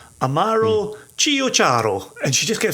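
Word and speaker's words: Amaro Ciociaro: So it's Amaro, Amaro, separately. Chio, C-I-O, separate, C-I-A-R-O. Amaro Chiocharo. And if you can start to say it like that, you already sound like you know what you're doing.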